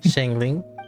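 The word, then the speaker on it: Xiangling: Shangling? Is that how you pronounce it?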